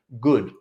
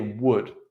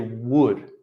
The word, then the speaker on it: would: las personas y dicen good, como bien, en vez de would. Entonces es importante que traten de pensar en la palabra hueso, hueso, y decir would, con esa misma pronunciación de hueso, would, y practicarlo en